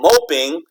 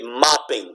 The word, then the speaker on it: mopping: not a long song but if you just put ing without putting the double consonant it'll remain you don't become mope okay so you have to put an extra P to keep that sound from becoming long okay so instead of saying moping you say mopping because you got that extra consonant a same thing with